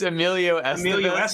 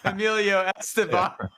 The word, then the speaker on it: Emilio Estevez: I think he was trying to reference Emilio Estevez there, the actor, and he somehow mispronounced his name and called him Emilio Esteban.